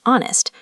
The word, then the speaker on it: honest: But the h is silent. Spoken, it's honest.